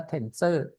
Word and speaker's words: TNSR: tnsr นะ ครับ อ่า โดย เค้า ใช้ ออก เสียง คำ ว่า ตัว นี้ ว่า tenser นะ ครับ เรา ไป ดู ตัว